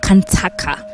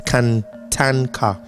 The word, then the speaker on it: Kantanka: okay please help me it's Canan car okay Canan car you can even say like Canan car okay canang car canang